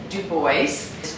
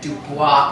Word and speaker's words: DuBois: to me um this is and du Bo is pronounced Duo and not Dubois initially um he's from hugenot